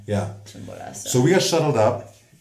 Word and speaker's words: Chimborazo: Chimborazo. Chimborazo. Yeah. Chimborazo.